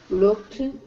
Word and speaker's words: looked: So suna do look looked looked. Yes. Remember when you have a c sound on the end and you are doing the past it's a t sound. So it's looked looked.